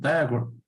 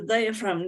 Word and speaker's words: diaphragm: Ah, the diaphragm, this one. Diaphragm, okay, from, Yes. okay, This is PH, all right.